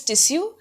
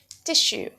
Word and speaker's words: tissue: The Indian pronunciation is tissue, but otherwise, tissue.